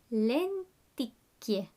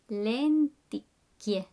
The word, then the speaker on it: lenticchie: Lenticchie. Lenticchie. So notice the CH, I, does the sound chi.